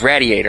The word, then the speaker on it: radiator: Yes, radiator. I'm going to say radiator because it rhymes with gladiator.